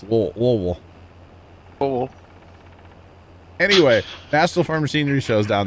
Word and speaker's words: Louisville: told by locals like you have to say it like you have a mouthful of marbles okay that's how you pronounce Louisville anyway National Pharmacy shows